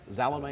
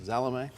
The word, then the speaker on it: Salome: the star of salome salome is that the correct pronunciation like with a z zalame all right anyway thank you